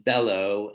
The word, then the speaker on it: bellow: words that um are differing in stress here between bellow and below okay the first syllable stressed on bellow the second syllable stressed on below and this is an